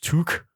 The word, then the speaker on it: toque: Discord and elsewhere over my pronunciation of to as someone which apparently is in fact toque as someone who has